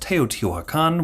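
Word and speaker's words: Teotihuacán: the late pre-classic period by the way is pronounced Teotihuacan with accent over the con but that's just you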